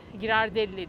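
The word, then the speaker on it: Ghirardelli: Girander, girardelle diye okunuyor.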